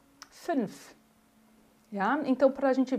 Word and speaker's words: fünf: Mas a pronúncia é boca de U e se fala um I, ó. München, fünf.